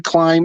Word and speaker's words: climb: these words and that the b in climb is silent and you can't ever pronounce the b and you know what